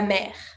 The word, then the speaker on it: mer: The sea, and you pronounce the R, la mer.